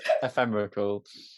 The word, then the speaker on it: ephemerical: It's ephemerical. It's EPHEMRICAL. Yeah. Ephemerical. It's like Yeah. ephemeral and numerical put together.